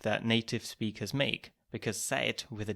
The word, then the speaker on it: seid: This is a common mistake that native speakers make, because seit with a D and seit with a T are pronounced in the same way.